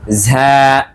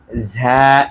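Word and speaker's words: زاي: তাই আমাদের আরবি উচ্চারণটা সঠিক রেখেই বলতে হবে ঝা। ঝা একটু চাপ দিয়ে ভেতর থেকে একটি বাতাস বের হবে, ঝা ঝা।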